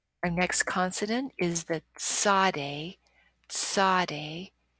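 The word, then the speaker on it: צדי: next consonant is the Sade Sade it's that t s sound as in myths or pizza Sade and the Zodi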